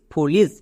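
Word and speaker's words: foolish: এবার উচ্চারণ করো। এফ ডাবল ও ফু, এল আই এস H lease, ফুলিস।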